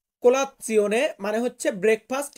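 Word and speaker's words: colazione: সকালের নাস্তা যেটা এটাকে আমরা ইতালিয়ান ভাষাতে বলব কোলাপসিয়নে কোলাতসিওনে মানে হচ্ছে ব্রেকফাস্ট বা সকালের নাস্তা দেন এখানে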